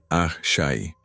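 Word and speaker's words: Àṣẹ: Los ancestros Egunungun, que siguen siendo miembros activos de la comunidad y el concepto de Ash pronunciado Shai.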